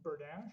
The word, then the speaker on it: Bernaiche: Bernaiche.